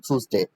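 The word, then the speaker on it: Tuesday: যেটাকে আমরা টুইসডে বলি। কিন্তু এটা হচ্ছে শুদ্ধ উচ্চারণ টুসডে।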